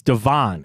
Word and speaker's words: Devon: Devon is it not it's not Devin it's Devon a chain I'm gonna go find